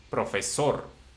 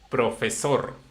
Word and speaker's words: profesor: Profesor. Yes, yes, Ajá. professor. Repeat after me. Profesor. Professor. Da. Profesor, it's right. Yeah. Professor is not right.